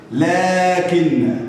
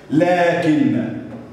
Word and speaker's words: لكن: ذلك، اولئك، لكن، لكن، هنا الف ينطق ولا ايه؟ ولا يكتب.